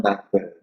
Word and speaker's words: becquerel: 1 DPS is also known as 1 becquerel.